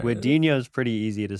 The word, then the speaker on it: Guadagnino: Guadagnino. See, I think the GN just becomes like a nya sound. Yeah. So that's what I'm going on. All right. Guadagnino is pretty easy to say.